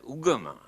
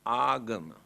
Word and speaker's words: agama: Here and now, they pronounce as ugama. But the original word is agama.